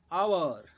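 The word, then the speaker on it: hour: प्रयोग होता है जैसे जिन शब्दों में एच साइलेंट रहता है उनसे पहले एन का प्रयोग होता है जैसे एन आवर an honest man एंड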